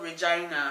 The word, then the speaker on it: Regina: So there's a city that is called Regina. Regina. And it's spelled like Regina.